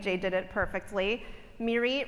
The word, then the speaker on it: Mirit: Mirie rhymes with deer meat or beer seat. So, if you can't remember, imagine me eating venison on a bar stool and it might come to you.